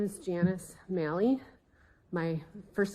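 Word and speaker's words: Maly: And please state and spell your For the record, my name is Janice Mali. My first name is spelled J A N I C E.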